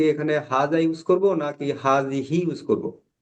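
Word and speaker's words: هذه: একটু মুভ করে হাজতে যাই বাকিগুলা একই এই হাজিহি এইটা একই দিস এটা হচ্ছে ফেমিনাইন হাজহি ফেমিনাইন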